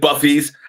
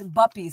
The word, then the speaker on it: buppies: Put a number one in the chat room if you heard yuppies and buffies. I've never heard yuppies and buffies. It's buppies. It rhymes with yuppies.